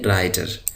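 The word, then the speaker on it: writer: वाला doctor doctor doctor यहां पर यह डब्लू साइलेंट है डब्लू को नहीं पढ़ा जाएगा इसको पढ़ेंगे राइटर राइटर कहते हैं मजमून लिखने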